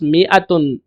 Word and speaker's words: مائة: Not that in میتن the alif is not pronounced، میتن کے اندر الف پڑھا نہیں جاتا، صرف لکھا جاتا ہے. It is pronounced میتن، یہ اس طرح پڑھا جاتا ہے.